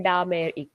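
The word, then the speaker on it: DMAIC: बनता है ठीक है और इसको हम प्रोनाउंस करते हैं डामरक ठीक है रेफर्स टू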